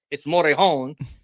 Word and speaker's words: Morejon: It's not John or whatever the hell it's Morejon.